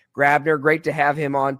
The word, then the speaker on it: Grabbner: That was Lincoln Grabbner. That's how he pronounces it. I did check before the show. G R A B N R. He pronounces it Grabbner.